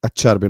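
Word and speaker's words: Acerbi: A cherby, not aer because he's Italian.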